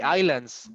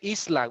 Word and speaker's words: island: the the places all the all the the islands islands understand the war islands yes like uh